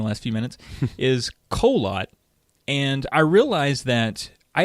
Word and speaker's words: Kholat: the exact same way people look at that word and they're like that is kholat that's pretty amazing no one calls it kaha lat or whatever else it could be everyone